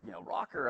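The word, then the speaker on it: ROKR: And so he's like, rocker, okay, it's spelled like, R-O-K-R, that's cool spelling.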